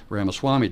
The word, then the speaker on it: Ramaswamy: I was surprised to see how well Nikki Haley did, and I was also surprised with, and I think it's pronounced Vivek Ramaswamy did.